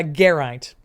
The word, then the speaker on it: Geraint: I can say that one because there's a very important Welsh cyclist, Geraint Thomas, who won the Tour de France, and that's how I know how to say it.